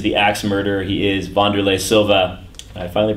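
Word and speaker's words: Wanderlei: He is Vanderlay Silva. I finally pronounced his name right.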